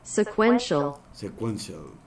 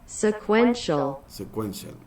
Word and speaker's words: sequential: Entonces eso en inglés ya en español significa secuencial, y se pronuncia sequential, sequential.